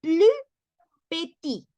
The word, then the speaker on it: plus petit: Entonces, la S final de plus no se pronuncia, no vamos a decir plus, siempre y cuando la siguiente palabra después de plus inicie con una consonante, como en el caso